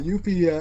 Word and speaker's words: Yuffie: if they're like, oh yeah, Yuffie, episode Yuffie finally coming to PS4.